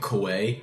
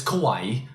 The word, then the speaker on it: kawaii: also recently went Risa I've been pronouncing it Kawai for the longest time it's kawaii oh I don't know if